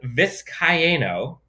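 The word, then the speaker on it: Vizcaino: luck of course but tristan viscayano i believe it's four syllables tristan viscayano won the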